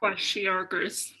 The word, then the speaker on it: kwashiorkor: Bonus points if you say it correctly. Kwashiorkor? Kwashiorkors. Kwashiorkor. Very good.